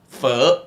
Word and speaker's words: pho: So the delicious pho - sorry, it should be pronounced this way - the good pho and the good banh mi are both in America.